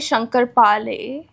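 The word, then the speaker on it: शंकरपाळे: Shankar Pale. Shankar. Huh? Is that Shankar Pale? Pale? Is it, that letter is like a lay, okay?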